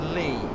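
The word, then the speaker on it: Leigh: certainly before my time Lee on sea is pronounced Lee perfect yeah exactly Nathan the yeah that's not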